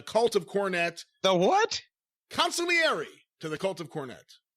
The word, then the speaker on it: consigliere: A great friend of the show, of course, the consigliere to the cult of Cornette. The what? Consigliere to the cult of Cornette. Consigliere. Now, a lot of Italians don't pronounce the G.